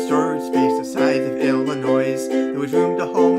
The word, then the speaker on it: Illinois: If we just stop here for a moment to say that I actually rhyme boys with Illinois. Nobody pronounces it Illinois. It's Illinois, but poetic license.